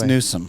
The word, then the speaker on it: Newsom: It's Newsome. It's like Karat and Carrot. Same thing.